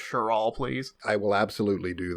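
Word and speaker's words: Cheral: name is cheryl baskell cheryl by the way spelled c-h-e-r-a-l that's one way to spell it so cheryl cheryl david if you do me the favor of any time it says shirt like cheryl just read it sure all please i will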